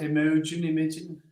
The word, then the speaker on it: Imogen: Imogen's here. Do I pronounce that right? Imogen? How do you pronounce that?